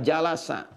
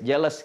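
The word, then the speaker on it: جلس: ini asalnya dari kata jalasa jalasa jalasa bacanya pakai bahasa Arab ya jangan pakai bahasa Inggris jealous gitu jalasa ya jalasa Apa arti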